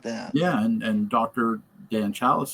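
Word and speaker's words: Dan Challis: You know what Joel just mentioned that Dan Chalice, the name of the uh Tom Atkins character, rhymes with tan fallus.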